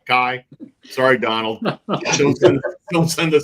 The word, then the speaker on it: Kai: Like I said, Kai Trump. Kia. Kia. Kia is a car. Kai.